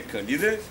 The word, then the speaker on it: Калиде: този древен град е акве калиде правилното ударение калиде което наистина означава горещи